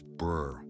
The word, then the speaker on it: BRRRR: You count your properties in doors, not homes, and you buy, rehab, rent, refinance, repeat, which the genre pronounces burr, like a shiver, and finds nothing alarming about.